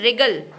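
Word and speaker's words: wriggle: हाँ, तो देखिए दोनों में R साइलेंट है। इसके बाद है रिगल।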